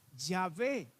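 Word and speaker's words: Yahvé: estado investigando este asunto han concluido recientemente que el nombre probablemente la pronunciación del nombre de dios originalmente es llave repito probablemente no quiere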